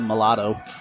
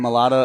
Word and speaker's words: Mailata: Someone one time said mulatto. What? Mulatto? As in Jordan Mailata of the Philadelphia Eagles.